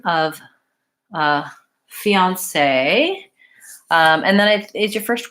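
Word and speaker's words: fiancé: word fianc so fiance it's a 2ds money has stress on the last syllable so in French they put the stress mark if it's the stress syllable of fiance I'm gonna lengthen on that last syllable I have the vowel e the vowel ah and then s sound and an a fiance if you don't say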